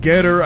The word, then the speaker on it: GETTR: this new application called getter i guess is how you're supposed to pronounce this ge ttr many of you have